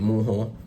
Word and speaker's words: Mujjo: This is called Mujjo or Mujjo. Comment down below, let me know what you guys basically pronounce it. But I pronounce it Mujjo.